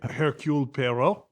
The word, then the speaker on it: Hercule Poirot: Oh, Hercule Poirot.